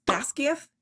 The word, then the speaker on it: Basgiath: Now, Navarre as a kingdom and Basgiath, which is apparently pronounced Basgiath in Scottish Gaelic, so Basgiath War College is officially the scene of a war.